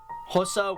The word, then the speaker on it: Xhosa: Those are English, Afrikaans, Ndebele, Pedi, Sotho, Venda, Xhosa, and that is Xhosa with a click. That's how you pronounce an X.